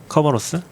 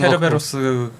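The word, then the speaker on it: Kerberos: 엔터프라이즈 느낌이 가 저에 그거 쓰고 싶은데 지금 그 뭐야 그인 커버로스인가 커버로스 커버스 아 그거 캐르베로스 영어로 발음한 거 커버로스 말고 뭐엘이는 그 뭐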